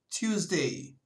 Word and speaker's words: Tuesday: gününe geçelim Salı günü Tuesday burada t harfinden sonra hafif bir y sesiyle de okumak mümkündür Tuesday geçiyoruz Çarşamba gününe Çarşamba